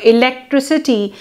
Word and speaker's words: electricity: suffix ity is added the resulting electricity is pronounced with s electricity and not with C in external suhi the